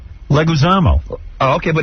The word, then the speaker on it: Leguizamo: Leguizamo. Oh, okay, but it's spelled with the I in there.